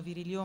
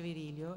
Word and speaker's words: Virilio: Il professor Paul Virilio, che in Francia pronunciano Virilio ma ormai in Italia si dice Virilio, è un filosofo che si occupa in particolare di catastrofi, la filosofia della catastrofe.